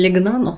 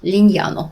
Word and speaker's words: Lignano: Je l'ai appelé Legnanu, mais ce n'est pas tout à fait ça. Ça se prononce Lignano.